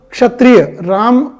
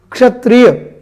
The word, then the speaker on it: Kshatriya: Like there is a word Kshatriya, Raja Ram Kshatriya थे, Kshatriya. See the pronunciation of Ksha, KSH. We use KSH, Ksha. Many people pronounce it Ksha. This is Ksha. This is the clarity. Ksha, Kshatriya, Kshatriya.